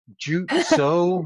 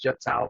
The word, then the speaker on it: Jut Sao: They would call the number and they'd be like, "Yeah, hi, is this Jutsu Martial Arts?" I mean, no, it's Jut Sao, but yeah, you're right.